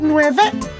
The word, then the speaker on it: nueve: 9 is nueve.